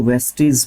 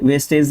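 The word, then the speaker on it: vestiges: उसको वेस्टीज बोलते हैं। वेस्टीज अवशेष या फिर बच्चे के कुचे जो निशान होते हैं उसको है ना? वेस्ट वेस्टेज नहीं वेस्टीज।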